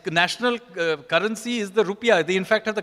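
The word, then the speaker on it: rupiah: called Indonesia correct it's National currency is the rupia they in fact have the correct pronunciation not our rup is actually the wrong it's angelized angli sized version of it so the rupia so here is a country that actually names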